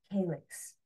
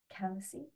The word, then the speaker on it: Calyce: son of the god Zeus and the nymph Calyx. How do you pronounce that? Calyce.